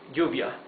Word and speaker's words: lluvia: Double L is pronounced like Y in yo, in I, yes? So, for example, rain, lluvia, would be with double L at the beginning of the word.